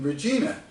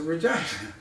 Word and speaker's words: Regina: I gather some composure and I say, don't you mean Regina? And she's still smiling, but her eyes are saying, ha, flustered another American. And she did. So she goes, oh, we Canadians pronounce it Regina.